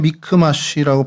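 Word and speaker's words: מכמש: 어 히브리어로 그냥 미크마쉬라고 발음이 되는데요.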